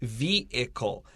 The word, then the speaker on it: vehicle: look at the word vehicle i don't say the h in this word but some people do vehicle is also acceptable